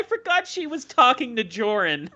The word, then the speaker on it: Jorrun: finds my channel he'll pronounce it joe run because i've had some friends from different parts of the south call me joe run which is cool uh but i like how you said it that's very cool